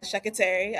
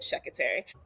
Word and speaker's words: Sekiteri: So, Sekiteri. Sounds like secretary, but Sekiteri.